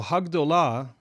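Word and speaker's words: הַגְּדוֹלָה: I'm not going to get into the reasons why right now, but when gdollah has the definite article added to it, it becomes hagdah. Hagdah. And so hagdollah is the expected feminine singular defined form of the adjective gadl.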